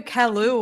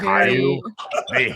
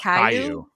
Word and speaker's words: Caillou: I knew Kalu was a very. Caillou. Is that how you say it? Caillou.